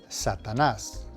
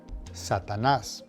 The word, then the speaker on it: Satanás: Number 1, the word for Satan is Satanás. Now, make sure you put the emphasis on the last syllable, Satanás.